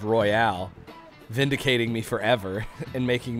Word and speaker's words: Royal: i have i've been i've been pronouncing persona 5 royal as persona 5 royale since it came out or since they announced it and and every all my friends made fun of me but then phil spencer